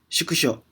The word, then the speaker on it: 縮小: Ini agak susah ya bacanya. Coba saya ulangi lagi. Shukusho.